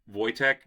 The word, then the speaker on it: Wojtek: I think it's Vo Voytech. Yeah, you are.